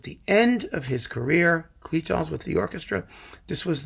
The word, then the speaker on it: Cluytens: And I picked Cluytens, Cluytens, the guy whose name I never pronounce right. Cluytens. One of you guys told me recently I was doing it right.